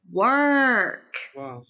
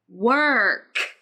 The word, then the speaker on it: work: mispronounced the word work the middle sound should be longer work also the final sound should be explosive like this work work or it should be linked to the vowel sound after it working work in that's